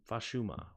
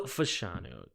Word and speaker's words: Fashanu: Is that or Fashuma? What? How do you spell that? Oh no, Fashanu with an N, not an M. Olu Fashanu.